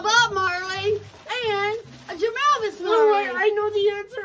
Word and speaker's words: Marley: It rhymes with Harley. Rhymes with Harley. Marley.